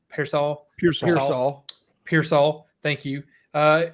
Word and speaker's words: Pearsall: uh and I do not know how to pronounce any of these names so this is going to get bad but like Ricky Purcell Pearsall Pearsall Pearsall thank you uh it is kind